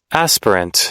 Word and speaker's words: aspirant: Tong aspirant up here aspirant I don't know as p i r a an T aspirant aspirant there we go yeah I was saying it right uh so